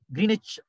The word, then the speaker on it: Greenwich: meridian greenwich meridian time that's the normal pronunciation but i told you yesterday w silent greenwich meridian time from greenwich